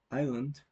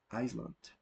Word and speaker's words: island: Dishonest, ghost, island. We don't have to say Iceland. Island is the correct pronunciation.